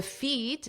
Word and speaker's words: feat: Notice the pronunciation is exactly the same as feet, eat, so it's that long E sound. The feet, eat. The feat, the challenge, was asking the question in the first place.